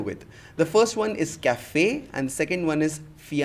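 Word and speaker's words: café: that particular letter so E is pronounced as a that is why we say cafe and not caffee and feyonce and not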